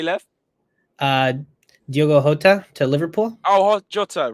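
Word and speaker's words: Jota: say left uh diogo hota to liverpool oh hot jotter right you got it sorry sorry that's yeah that's your like uh that's your portuguese pronunciation sorry i i thought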